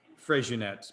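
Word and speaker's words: Freixenet: regionette uh f-r-e-i-x-e-n-e-t so you might not have pronounced it as fresh units but anyway that is the one so the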